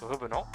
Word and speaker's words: revenant: Actually, it's Like the name Revenant is a French word which means coming back, literally. So in case you guys did not know, it's pronounced revenant.